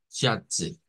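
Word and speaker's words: Schätze: Schatze es la pronunciación que vamos a hacer para tesoros, Schatze.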